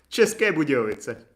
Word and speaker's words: České Budějovice: České Budějovice. But no one pronounced that because no one really like goes